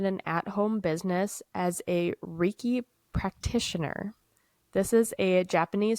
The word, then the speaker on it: Reiki: Okay, I don't No, know how to pronounce that. I've heard it as Reiki. I don't know if it's right either. It's Reiki for those of you that are curious.